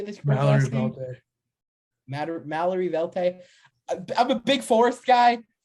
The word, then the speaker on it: Mallory Velte: Mallory Velte.